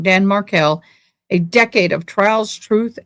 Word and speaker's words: Markel: Dan Markell.